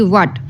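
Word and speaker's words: what: letter कैसे है w H eighty व्ट अब व्ट में हम लोग एच को नहीं बोल रहे यहां पे एच साइलेंट है ठीक है डब्लू में हम लोग क्या कर रहे हैं डब्लू की वॉइस आ रही है व्ट एच प्रोनाउंस नहीं कर रहे आई में क्या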